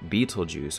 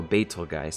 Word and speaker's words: Betelgeuse: And that is this star here, this reddish star called Betelgeuse, or Betelgeuse, depending on how you say it.